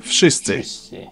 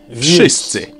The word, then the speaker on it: wszyscy: the hell they want, in Polish you simply pronounce each sound one after another and you get the word. W, sz, I, sy, cy, I. Wszyscy.